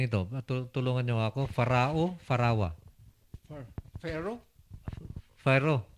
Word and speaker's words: Pharaoh: Mga sir, iso nga bilibak ken ni Farah Paano natin ibigkasin ito? Tulungan niyo ako. Farawa. Pharaoh? Pharaoh. Pharaoh?